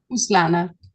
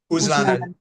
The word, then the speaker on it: Uzlaner: The Moralist International, Russia and the Global Culture Wars, by Kristina and her co-writer, Dmitry, and how do you say Uzlaner? Uslana. Uzlaner, yeah.